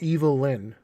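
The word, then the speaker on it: Evil-Lyn: be evil evil lynn for years i thought they were just mispronouncing her name but her name is evil and then lynn ray i wish you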